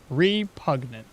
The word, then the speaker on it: repugnant: Repugnant. So there is a G in there. You have to pronounce the G, right?